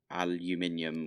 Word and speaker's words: aluminium: the other day because I said uh aluminium which is how we say it in the UK and I'm from the